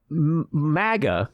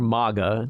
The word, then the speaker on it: MAGA: January 16th so yeah Maga or Maga depends on how you pronounce it people pronounce it both ways it's a phenomenon to